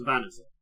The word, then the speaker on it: Avanswell: it, and I've got to remember how I pronounced it. Avanswell. Avanswell. That's what it was. It was Avanswell.